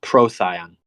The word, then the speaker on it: Procyon: She said it is pronounced Procyon. Procyon, which sounds way better than whatever I was doing.